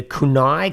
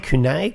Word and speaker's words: kunai: get rid of the of course the the kunai kunai kunai kunai kunai would be the um the chronic correct pronunciation it's funny because i actually lived in